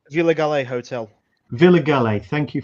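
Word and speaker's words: Vila Galé: sort of gastronomic feast over at, was it Ville de Galle? This place here? Yeah. Sorry, Ben, what were you going to say? Villa Galle Hotel.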